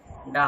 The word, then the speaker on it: Dove: DOVE, ডাব shampoo বলি না, ডাব।